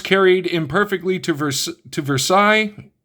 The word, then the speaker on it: Versailles: These events carried imperfectly to Vers to Versailles actually in Pittsburgh that would be pronounced Versales.